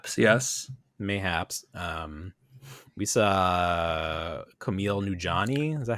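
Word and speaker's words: Kumail Nanjiani: may may happen yes mayhaps um we saw camille nujani is that how you say his name yes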